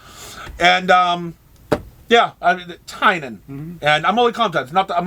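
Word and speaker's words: Tynion: or anything or i did learn how to pronounce uh the writer of department of truth's name okay tynan it's tynan all right so i've been wrong i've been calling him tinney and a lot of people call him but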